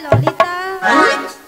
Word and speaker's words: ললিতা: বলে লালাই লালাই ললয় ললয় লালাই লালাই ললিতা। মাসি কি? ওটা লালাই লালাইও নয় আর ললয় ললয়ও নয়, তাহলে বলো হ্যাঁ। ললিতা। লো লো লো লো লো। বলো ললিতা, ভালো করে উচ্চারণ করো।